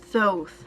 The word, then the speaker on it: Thoth: the book of thoth soth i think is how you pronounce it though there's some variation on that to a debate on how it's pronounced but thoth was the